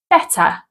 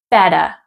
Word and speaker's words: better: However, in American English, they tend to change this to a soft D sound. For example, British English, better. In American English, better.